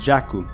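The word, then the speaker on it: ジャック: iskingu queen is Queen Jack is jakku Knight would be naito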